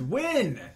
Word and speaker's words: Nguyen: Isn't that Nugent? It's win.